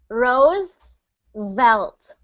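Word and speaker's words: Roosevelt: World Rose World Rose so when you see that V sound s think of biting your lip rose velt rose velt good perfect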